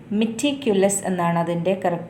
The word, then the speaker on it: meticulous: now the next one the syllable carrying the stress in the word meticulous is meticulous pronunciation with another meticulous second syllabus next one an interior